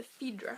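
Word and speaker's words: Fidra: going to make the fedra Hat I think that's how you say it it's f i d r a it's by gin goodin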